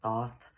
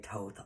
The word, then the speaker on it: Thoth: by toth the atlantean the proper way to say it is thoth but i am westernized so i say toth often so thought the atlantean